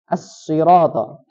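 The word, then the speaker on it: الصراط: Kata as-sirata, selanjutnya yang pertama menghilangkan tasydid di huruf shad. Ihdinas siratal mustaqim. Yang harusnya dibacanya ihdinas sirata, nas sirata, tapi dia hilangkan tasydidnya. Ihdinas siratal mustaqim. Seperti itu ya. Kemudian mengganti huruf shad menjadi huruf sin.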